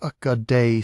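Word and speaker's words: Ögedei: Ogade Khan, pronounced Akad, son and successor of Chingis Khan, died in December 1241 in the political order of the empire.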